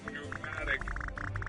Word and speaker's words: pneumatic: You're thinking of pneumatic. I'm spelling that as with a silent P.